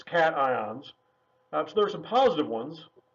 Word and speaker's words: cations: ions which are called cations not to be pronounced occations it looks like it should be said occasions its cations that's there's some positive ones which is to